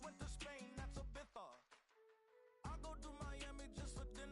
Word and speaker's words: Ibiza: I just went to Spain, that's a Ibiza. Ibiza. Yeah, it's pronounced Ibiza, actually.